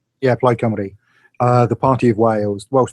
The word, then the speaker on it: Plaid Cymru: Plaid, or is that how you pronounce it? Plaid Cymru? Yeah, Plaid Cymru.